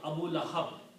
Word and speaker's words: Abu Lahab: Waw is a weak letter. To pronounce it easy, we pronounce it Abu. Okay? So pronunciation of this word becomes Abu.